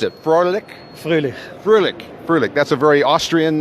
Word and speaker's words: Froehlich: I don't know, we discussed why we never met before, and it is Thomas, now you pronounced it, Froehlich? Froehlich.